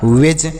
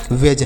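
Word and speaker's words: wedge: next word देखते हैं डब्लू ई डी जी ई तो डब्लू से व ई से एक ही मात्रा लिखेंगे और डी का उच्चारण नहीं करेंगे जी से जी ई से ज तो यह हो गया वेज क्या हो गया वेज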